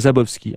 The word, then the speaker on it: Szabowski: lui François zabovski zabowski peut-être que le S ne se prononce pas juste on commence avec le Z François zabowski ah bah dit comme